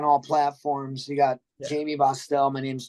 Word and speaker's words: Bosstel: my name wrong dude they call me Bell or Bell I'm like it's bastel thought I said it right I know it's more B bastel yeah so I think